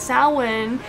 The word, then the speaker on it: Samhain: in which you know how long it took me to understand that Sal when was that pronounced Samhain or you know whatever